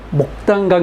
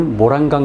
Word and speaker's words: 모란강: 나 는 저 강을 모란 강 이라 고 부른다 . 맞습니다 . 한중식 발음 에서 도 " 모란강 " 이 올바른 표현 입니다 . " 무단 " 이 아닙니다 .